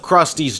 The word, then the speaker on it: Krusty: Those types of Krusty's jokes are a product of his inspiration and not just an opportunity to satirize media standards and trends of prior decades. And Krusty rhymes with Rusty, and pies also have